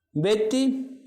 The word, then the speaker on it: வெற்றி: வெற்றி டி போல ஒலிக்கிறது.